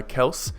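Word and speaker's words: Kelce: Jason and Travis uh Kels it's actually pronounced Kels not Kelsey in case you guys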